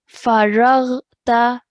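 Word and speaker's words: فرغت: Try and make that ghain sound rather than a kha. Faraghta.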